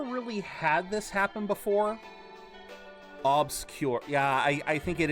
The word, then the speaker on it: Obscur: I think it's just pronouncing it like you pronounce the word obscure or maybe just cla obscure. Yeah, I think you you more emphasize the O.